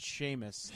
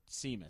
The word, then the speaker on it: Seamus: name Lucy's favorite name although it's pronounced Seamus not CMAs Oh like my name is Sean with s EAN same thing I would have never it's an Irish it's the correct Irish way of saying it Rob everyone gets it